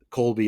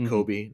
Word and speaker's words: Colby: at the cast Colby is spelled cby y like the cheese not the not Kobe not the Laker love